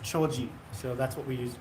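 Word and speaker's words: 丁子: some clove oil yeah clove in Japanese is pronounced choji so that's what we use choji oil Nagata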